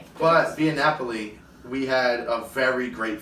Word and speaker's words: Via Napoli: But and then also in Italy is the Via Napola. I can't never pronounce it. Via Napoli.